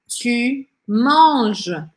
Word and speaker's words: tu manges: Tu manges, você come. E aí eu não pronuncio nem o e, nem o s.